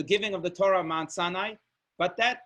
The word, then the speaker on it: Sinai: it says as follows the Hebrew pronunciation of Sinai is almost identical to the Hebrew word for hatred which is sina seen a sinai almost